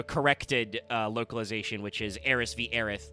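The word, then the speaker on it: Aerith: uh localization which is Aerys vith. Like some people are still dieards, but it's become very clear that her name is just Earth with some extra syllables cuz it's Japanese. So it's Earth.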